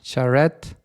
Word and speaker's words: Charette: Today we have a new episode with our new guest Mark Charrette.